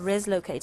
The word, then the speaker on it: Reslocate: Yes, it And it's called Reslocate. I hope I'm pronouncing it correctly.